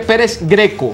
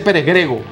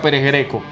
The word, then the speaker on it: Pérez Greco: deportivo táchira pérez greco se escribe pérez greco no se dice pérez grego no está en cancha pérez greco no se han dado